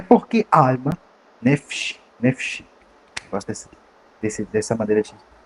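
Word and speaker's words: נפש: É porque alma, nefesh, gosto dessa maneira de pronunciar, nefesh.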